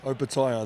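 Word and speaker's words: Opetaia: And we cleared things up because everyone pronounces your name wrong, and we're just going to get it on the record. Opataya. Opataya, that's correct.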